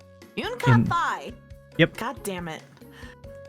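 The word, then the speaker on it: Yun Ka-fai: Yun Kai Fei of the 8 Leaves One Blade School. Yun Ka Fai. That's actually how it's pronounced. Yun Kai Fei.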